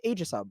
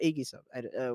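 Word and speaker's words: Aegisub: It's called Agisub or Agisub, whichever you want to pronounce it.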